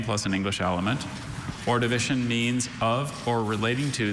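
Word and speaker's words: Ordovician: Orivision.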